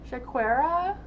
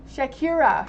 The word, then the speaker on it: Shakira: to say people's names is sha shakera shakera am I saying that right shaia I'm sorry if I say your name wrong why did Jalen the Taurus reach out to Shakara today Shakira Shakira sorry about that Shakira why did Jalen